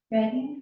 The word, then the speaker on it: Reading: One is named after my hometown and most people mispronounce it. Please don't do that. What's it start with? An R. Reading.